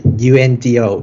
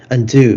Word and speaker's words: UNDO: So regarding our project, we call our product the UNDO. In English, it's pronounced undo, but in Japanese, we call undo.